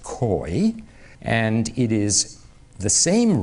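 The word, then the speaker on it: keu: We would spell it K-E-U. It's pronounced koi, and it is the same root from which the word curve comes from.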